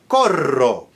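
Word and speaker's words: corro: You can have koro meaning a choir or chorus and cororo which means I run. So the difference between koro flip and koro has to be clear.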